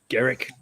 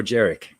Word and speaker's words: Garrick: Or Garrick. Is it Garrick or Jarek? I can never remember if it's a soft or a hard G.